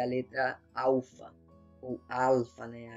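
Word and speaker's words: ἄλφα: Então essa letra aqui é a letra alfa, ou alfa, né? A gente pronuncia o L com som de U, mas na verdade o L não tinha som de U, né?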